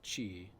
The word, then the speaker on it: ki: Yeah, I mean, I usually hear it said chi. Chi. Is it ki? It can be pronounced either way.